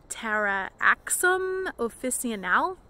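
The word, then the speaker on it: Taraxacum officinale: I believe it is pronounced Taraxum officinale, which is derived from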